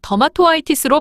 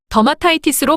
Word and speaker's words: dermatitis: 그래서 더마토 아이티스로 발음하지 않고 더마타이티스로 발음됩니다.